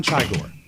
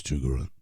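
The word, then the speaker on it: Chigurh: I'd like to present from the movie No Country for Old Men, Anton Chigore. Chugor. Chugor. He already screwed up a bit. Have you seen the movie? I have. Okay. It's Chugaru.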